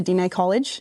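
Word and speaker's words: Diné College: Your father was instrumental in founding of the INF and advancing education through the Dina College. Is that how you pronounce it?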